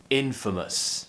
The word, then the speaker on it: infamous: it happens twice so practice with me infamous and don't forget the stress is on the first syllable here in infamous the other problem with